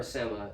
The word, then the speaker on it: sema: The semaglutide, it could be pronounced both ways, sema or sema, so you might hear me use both pronunciations, but semaglutide is a